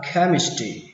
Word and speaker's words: chemistry: Hóa học đọc là chemistry. Mặc dù ở đây nó ghi là âm trờ nhưng mà cách đọc của nó là âm khờ, chemistry.